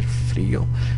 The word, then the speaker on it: frío: Tener frío, Notice the accent on the I. Tener frío, tener hambre.